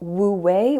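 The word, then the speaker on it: wu wei: to try to practice I recommend looking up woo way which I think is spelled w u space w-e-i which is the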